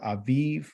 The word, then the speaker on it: Aviv: bid yep I did a bib is the first month okay a bib or Aviv whatever you know because the v's are the pronounced softly these are really soft